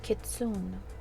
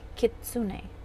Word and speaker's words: kitsune: to pronounce that properly i know some people say kitsune i believe that might be the um western pronunciation but it is according to the website anyway it said kitsune it's a fox so